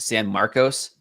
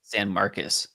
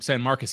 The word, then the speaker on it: San Marcos: It looks like it's pronounced San Marcos but it's pronounced San Marcus. Ma'am San Marcus.